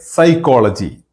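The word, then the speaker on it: psychology: हम जब उसको लिखते हैं पी एस वाई सी एच ओ एल ओ जी वाई ऐसे लिखते हैं। लेकिन जब हम उसको प्रोनाउंस करते हैं तो उस टाइम पे पी जो है वो साइलेंट होता है।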